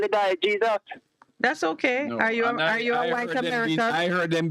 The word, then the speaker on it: Jesus: on his jersey but Jesus Jesus why why because in Spanish J is pronounced like h yeah don't speak Spanish